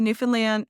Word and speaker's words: Newfoundland: It's Newfoundland not new found land. You don't need to pronounce all the syllables individually, just run 'em all together.